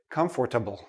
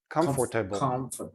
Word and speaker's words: comfortable: say all the letters i've heard many students say comfortable come forth but native speakers we don't say this part we don't say the or we say and notice the last sound is like a small tiny tiny little eye comfortable comfortable affordable comfortable